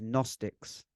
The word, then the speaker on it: Gnostic: they were termed as gnostics and at least my understanding of that now which is actually spelled with a G for anyone that's looking to research it which is g-n-o-s-t-i-c Gnostic and they would often